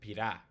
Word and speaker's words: pira: Whereas pira is the accent is on the I, it's not on the A, so it's pira.